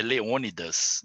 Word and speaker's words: Leônidas: eu queria pronunciar direitinho é Leônidas não é ondas não é Leônidas sabia e o Antônio fala